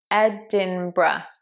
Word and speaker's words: Edinburgh: a hard one because the spelling is so misleading. This one is Edinburgh, Edinburgh. So it's not Edinburgh, as it looks like, Edinburgh, it's actually Edinburgh, Edinburgh, Edinburgh. So there is an R in there, but it's not quite in the place you expect.